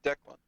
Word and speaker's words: Declan: It's just people can't pronounce my name. Declan. That's how Yeah. you say it, right? It's Declan.